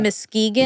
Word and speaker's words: Muskegon: Muskegon, yeah.